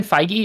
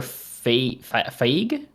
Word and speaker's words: Feige: shows should play out is that how his name is pronounced feige i i it's either kevin feige or fate i always read it in my head as phage oh like with a